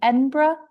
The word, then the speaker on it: Edinburgh: She graduated from, oh, Lucy, I even looked up the pronunciation, Edinburgh.